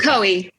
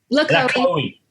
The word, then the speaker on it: LaCohie: How do you pronounce it? LaCohie. LaCohie.